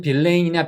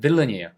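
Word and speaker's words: villain: 이게 한글로도 꽤 쓰이더라구요 근데 얼핏 보면 빌레인이나 빌라인처럼 보이지만 이거는 빌랜드 아니에요 빌런이에요 그래서 발음이 강세가 없죠 여기 액센트가 있어요 그러면서 엑센트까지 같이 정리하고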